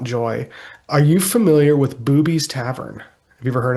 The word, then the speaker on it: Bube's: are you familiar with Booby's Tavern? Have you ever heard of that? Not at all. I know. No. So I was pronouncing it like Buble, like Michael Bublé, even though it's Yeah,